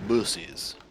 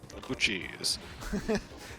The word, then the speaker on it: Buc-ee's: Bussies. Oh, cheese. Buc-ee's. Guy who pronounces it bussies.